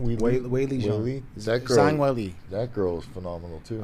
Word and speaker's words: Zhang Weili: Zhang Weili.